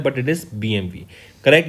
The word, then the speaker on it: BMW: group BMW नहीं बोलते हैं स्टूडेंट्स इसको BMV प्रोनाउंस करते हैं राइट लिखा BMW जाता है बट इट इज़ BMV correct ये सक्सीड करेंगे विक्रम पावा को ये